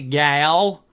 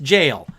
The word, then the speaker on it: gaol: gonna look this up how the hell do you pronounce Gail's in jail sure up its jail it's just jail what do they mean